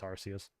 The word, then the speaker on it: Arceus: We have Elden Ring, Live Alive, Pokemon Legends Arceus, however you want to pronounce it. I don't judge. Actually, I do. It's Arceus.